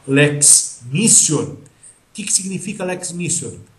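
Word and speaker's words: Lex mitior: Quando houver a chamada Lex missor com P se escreve mitior mas você vai pronunciar Lex missor que que significa Lex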